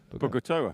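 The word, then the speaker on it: Bogotá: Bogatoa. Bogatoa, that's the one. But pronounced as you said it, because the producer in my ear just told me.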